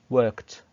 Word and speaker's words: worked: And by the way, the ed here is pronounced as t, worked.